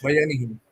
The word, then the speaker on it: Bayanihan: at the, how do you pronounce the first and the Bayanihan? Is that right? Bayanihin.